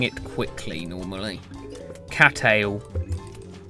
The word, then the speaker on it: Cattail: cattail. Unless you actually like pronounce the T twice and go cattail, but that I don't think I've don't think anyone else normally says that.